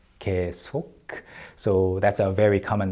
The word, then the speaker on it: 계속: And that 계속 at the end is pronounced with a clear K, like that, 계속.